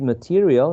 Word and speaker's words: material: 58 material has 4 syllables, and the second syllable, the diphthong, right, is stressed.